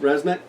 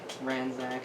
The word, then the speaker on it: Ranzak: So that was Resnick? Yes. Okay. Pronounced every character in this game wrong. How did how was I it? just said Brasnak, Ranzak. The N comes before the Z.